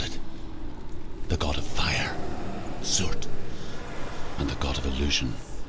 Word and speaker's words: Surt: I always thought it was Surtur, because of the way it has an R and it's spelled, but I guess The it's Norsemen Surt.